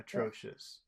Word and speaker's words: atrocious: Which syllable has all of the power? Atro- atro- atrocious. atrocious. Atrocious. Atro, Tro. Okay.